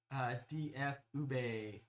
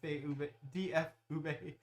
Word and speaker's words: DF Ube: Ruel says Board Games May always say DF Ube. Oh, DF Ube. Okay, sorry, it's not DFUB.